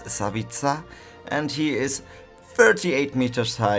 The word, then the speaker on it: Savica: Slap Savica, not like I pronounce it all the time wrong, Savica, it's Savica, and he is 38 meters high.